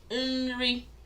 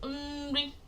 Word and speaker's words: Nri: So the first one I mentioned was Nri. I said Nri, which is food.